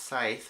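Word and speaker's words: Scythe: two and three Skype I know it's pronounced site but I'm gonna call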